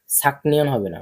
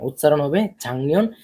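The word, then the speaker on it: 작년: Chang ঠিক আছে ছাকনিয়ন হবে না উচ্চারণ হবে ছাংনিয়ন কিন্তু লেখার ক্ষেত্রে লিখতে হবে ছাকনিয়ন ঠিক আছে উচ্চারণ কি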